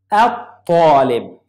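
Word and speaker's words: الطالب: I didn't pronounce lam. Talib. At-talib.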